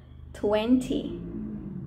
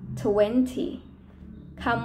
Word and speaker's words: twenty: ฤ ษ เ รี ย ก ว่ า twenty twenty ค ำ ว่ า นี้ ไ ม่ ไ